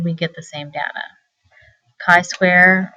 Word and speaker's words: chi square: get the same data Kai Square rhymes with I uses the Greek letter